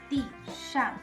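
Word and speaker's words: 地上: 地上, both in the fourth tone. 地上, a little bit challenging for me to pronounce when both things are in fourth tone.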